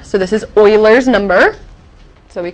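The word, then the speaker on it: Euler: is named e because the man who discovered this number was named Oiler which is spelled e u l e r so this is Oiler number so we call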